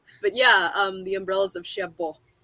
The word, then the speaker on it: Cherbourg: So number 4, The Umbrellas of Cherbourg. I have a friend who's French, and she has been, okay, Michelle, this is how you say it. It's The Umbrellas. Don't say the G, okay? So, Cherbourg.